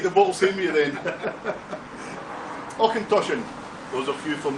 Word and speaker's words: Auchentoshan: Auchentoshan. Those are a few from the States. Here's a challenge for you to pronounce that properly. Auchentoshan.